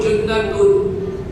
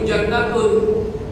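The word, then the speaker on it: جُنَّةٌ: Yang benarnya as-shaumu junnatun. Kalau yang tak paham lughat, tak ngerti nahwu, dibacanya as-shaumu jannatun.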